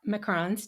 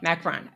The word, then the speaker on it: macarons: by telling everybody what macron's did I pronounce it correctly okay Macarron not quite correctly close enough um what they actually